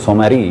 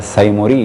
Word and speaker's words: سمری: جناب علی بن محمد سمری یا سیمری یا سمری، کیونکہ سمری اور سیمری اور اس یہ مختلف تلفظ ہیں، تقریباً 8-10 کے قریب،